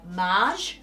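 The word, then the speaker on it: Maje: one this is a forever piece it's by Marge it's a French brand I'm not sure if I'm pronouncing it correctly but it's m a j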